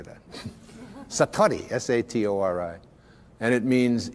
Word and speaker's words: Satori: it's called Satori I'd love to say that Satori SAT Ori and it means instant awakening the